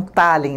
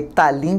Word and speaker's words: Tallinn: Pronuncia-se então Tallinn, né? Na abertura da nossa entrevista eu falei Tallinn porque eu vi escrito com um acento em